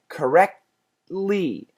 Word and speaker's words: correctly: In other words, correct, stop at the T, correct, don't finish it, don't go t, but go to the T, correctly. And right at that T place, go for the L sound.